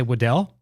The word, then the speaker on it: Waddell: Benningfield, and we've got Wolverine, Jamie, and am I pronouncing it right when I say Waddell? That's right. Yep. Guys, you heard it here first. I pronounced the name right.